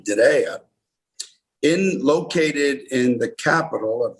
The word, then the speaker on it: Diriyah: But Diriyah, pronounced like a ray of sunshine, Diriyah, located in the capital